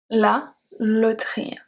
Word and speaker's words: loterie: I'm not putting all the silent letters in red, just the E that we are talking about today. La loterie. On aimerait tous gagner à la loterie.